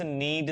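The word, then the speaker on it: knead: फिर है आटा गूंद दो जरा प्लीज नीड द डो अच्छा ध्यान क्या रखेंगे यहां पर के साइलेंट होता है तो नहीं बोलते हैं इसको नीड कहते हैं और इसको कहते हैं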